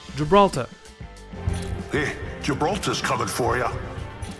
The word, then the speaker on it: Gibraltar: Sur Bangalore, c'est la première syllabe qui est accentuée, et sur Gibraltar, c'est la deuxième, donc ça donne Bangalore et Gibraltar.